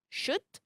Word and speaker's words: should: For the H in chemist and ghost, the K in knock, the L in the modal verb should, cough, talk, salmon, the N in autumn, and the P in pseudonym, and in the word psychology.